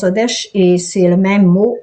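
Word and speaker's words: חודש: C'est la lune et le mois, ça veut dire Odesh en hébreu, on prononce Odesh et c'est le même mot en hébreu.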